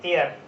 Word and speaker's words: heir: और भी हम आपको बताते हैं इसके साथ साथ, जैसे एयर, HEIR, इसको हम पढ़ते हैं एयर, एयर, इसका मतलब होता है उत्तराधिकारी।